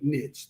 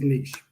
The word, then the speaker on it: niche: toes what is a niche the proper way to say it is niche but the reason why i call it niche is because of the saying they're riches and niches right it's the proper